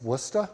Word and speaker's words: Worcester: of butchered the name it's Worcester like it's spelled when I worked in